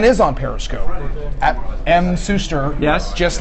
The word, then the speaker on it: Suster: insight this man is on periscope at em sister yes just like on Twitter one of the very few people who actually pronounce my name correctly thank you most of all say schuster other parishes he heard a real deal here